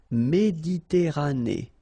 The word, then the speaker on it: Méditerranée: Okay, here final E not pronounced, but then you pronounce this E at the end. Méditerranée.